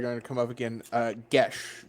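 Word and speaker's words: geas: to come up again gesh g-e-a-s is gesh i know i always pronounce it eos anyway is it what but it's i mean irish so it's gesh yeah exactly i like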